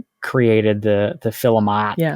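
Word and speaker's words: philomot: Namely, filament, f i l e m o t, and filament. P h i l o m o t. Like philosopher. No, not like philosopher.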